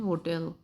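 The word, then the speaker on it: hotel: Standard English में एच हरगिज़ भी साइलेंट नहीं है, इसकी आवाज़ आएगी यहाँ पे. ये होटल बुलाया जाएगा, नॉट होटल.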